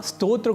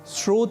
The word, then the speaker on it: स्तोत्र: दूसरा शब्द है स्रोत यहां स्तोत्र को सामान्य रूप से स्रोत बोलना अथवा लिखना अशुद्ध है क्योंकि स्तोत्र और स्रोत यह दोनों ही शब्द अलग-अलग अर्थों को बताते हैं स्तोत्र जैसे कि